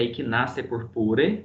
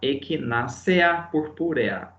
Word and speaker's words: Echinacea purpurea: No latim, pessoal, a gente não pronuncia a sílaba, né? EA, Echinacea purpurea. Você fala como uma palavra oxítona, Echinacea purpurea, apesar de se escrever Echinacea purpurea.